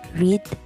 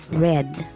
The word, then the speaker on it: read: foot hit hit the spelling of the verb read does not change but its pronunciation changes the pronunciation changes from long e to short e example read read some irregular verbs change their